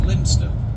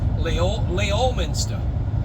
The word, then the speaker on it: Leominster: I mean, correct me if I'm wrong, but I do believe it's pronounced Leominster. But you know, if you're seeing it for the first time, it looks like it should be pronounced Leominster.